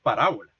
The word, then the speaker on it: parábola: Porque tiene acento en la segunda A, al ser palabra esdrújula, pero también allí se remite al etimo. Y efectivamente el etimo es parábola.